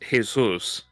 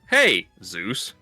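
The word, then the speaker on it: Jesús: like it just it it's Jesus but it's pronounced in the Spanish is Jesus. And when you don't know how it's spelled you just think oh their name is hey Zeus.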